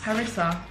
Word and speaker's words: harissa: they are m s how do you say that word harassing chicken bites harissa yeah try one which is